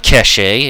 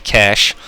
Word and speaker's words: cache: how to pronounce that it's not cach a it's actually cash kind of funny but I would have thought it'd be the other way considering it's a French word but whatever anyway so